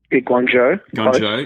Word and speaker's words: Guangzhou: beat, I'm going to get the name right, Guangzhou. Is that how you say it? Guangzhou.